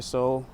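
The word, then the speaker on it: sol: Look, Spanish, the sun is pronounced as soul. S O L.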